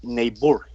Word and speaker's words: Niebuhr: los he pronunciando bien él reinholz reinhold pero el apellido es neighbor este señor este teólogo